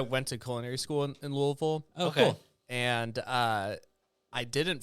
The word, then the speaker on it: Louisville: Mom, there's an S in there. Yeah. But no one pronounces it there. I forgot there's an S in there. Louis'sville.